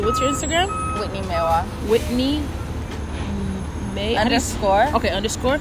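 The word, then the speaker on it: Meihwa: Meiwa.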